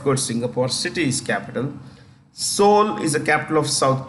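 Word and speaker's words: Seoul: Singapore city is capital soul is a capital of South Korea that's how you pronounce it Soul the E is silent Soul then Beijing the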